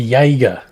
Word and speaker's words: Jaeger: would be Jaeger. Not Jag.